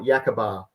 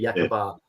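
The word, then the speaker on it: Yacaaba: northern headland, you've got Yakabar. So I think you pronounce it Yakaba or something like that, but it's actually Yakabar.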